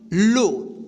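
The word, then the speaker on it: low: कि जब किसी वर्ड के अंत में ओ डब्ल्यू एक साथ रहे तो इस ई तो इस ओ डब्ल्यू का उच्चारण जो होगा ना ओ होगा ठीक क्या होगा ओ होगा तो यहां पे देखिए एग्जांपल में हम क्लियर कर देते हैं एल ओ डबल क्या होगा लो ठीक एल ओ डब्ल्यू लो ठीक यहां पे देखिए ये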